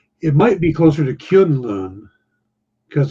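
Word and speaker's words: K'un-Lun: they said kunlau which sounds vaguely like Kung Pao yeah it might be closer to kyun Loon because it's K apostrophe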